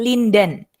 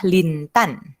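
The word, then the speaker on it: Lin Dan: dari Tiongkok namanya baik Biasanya dilafalkan linden linden kalau orang Indonesia bilang line dan tapi sebenarnya nama dia dilafalkan yang benar adalah lintan lintan Hai di seperti huruf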